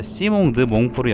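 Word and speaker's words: Simon de Montfort: 반란 주동자 이름이 아까 시몽드 몽포르 있죠 시몽 드몽포르 물론 이제 영어로 읽으면 이제 사이몬이라고 읽을 텐데 그 사람 이름에서 볼 수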